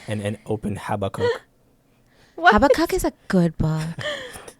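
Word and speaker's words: Habakkuk: habakuk yeah habak habak it's habac it's habac that's how I've always wanted to pronounce it too yeah is that the right way though or is that just the way that we know yes well I don't know yes it's correct we're not we're not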